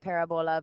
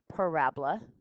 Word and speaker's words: parabola: okay i know it looks kind of like parabola but it's parabola okay it's the way we pronounce it and it could look like a